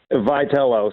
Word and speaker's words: Vitello: for us so i can yell at him vitello so yell away thank you that's it's a